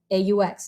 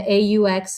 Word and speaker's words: aux: together to become o a ux now once again the a u and the aux both sound the same but they're uh they're spelled differently okay so the au is